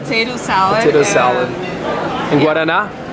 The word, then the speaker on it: Guaraná: And Guaraná?